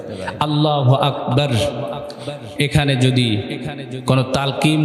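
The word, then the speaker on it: الله أكبر: দিলে কি হয়ে যাবে নামাজ ফাসেদ হয়ে যাবে আল্লাহু আকবার উচ্চারণ করি সবাই জবানে উচ্চারণ করি আল্লাহু আকবার কি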